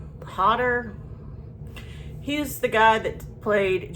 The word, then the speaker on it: Hodder: The Rise of Leslie Vernon, and it's got little cameos from Kane Holder in there. Kane Holder. I'm saying his last name wrong. Hodder.